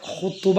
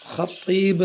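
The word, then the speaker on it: خطيب: എന്ന ആൾക്ക് എന്താ പറയുക ഖുതുബ എന്ന ഖുതുബ അല്ല ഹത്തീബ് ഹ് ത്വാഹ് ഹത്തീബ് എന്നാണ് പറയേണ്ടത് പിന്നെ മരണപ്പെട്ടവർക്ക് മഹ്ഫിറത്തും മർഹമത്തും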